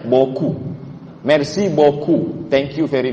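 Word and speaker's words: beaucoup: Bou chou. Bacanya boku.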